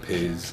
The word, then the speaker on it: Pizz: ways of pronouncing it which ought to be pronounced pits but we don't get personally upset if people call it piz if it takes it any further than that